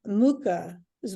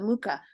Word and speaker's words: Mucha: It reminds me of also Alphonse Mucha's work, his paintings, if you're familiar with him.